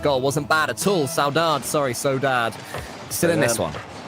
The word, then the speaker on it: Saudade: So So Dad, Saudade they told performing us. well. They told us how to say it.